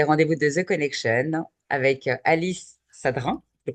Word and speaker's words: Alice Sadrin: On est là pour les rendez-vous de The Connection avec Alice Sadrin. Je le prononce bien, j'espère.